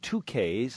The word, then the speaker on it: Tukaiz: is on the phone he's the owner of 2ks that's spelled t k a i z it's a